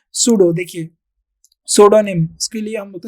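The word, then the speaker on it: pseudonym: देखिए सोडोनिम, इसके लिए हम बोलते हैं सूडोनिम, यहाँ पर पी साइलेंट होता है, सूडोनिम।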